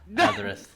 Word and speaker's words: Zadrith: No, your name is Zadrith. The Z is silent. Zadrith.